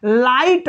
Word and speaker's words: light: देखिए जैसे लाइट लिखा जाता है LIGHT, तो इसमें देखिए लाइट हम यल का भी उच्चारण किए, आई का भी उच्चारण किए और टी का भी किए, लेकिन GH का उच्चारण नहीं करेंगे।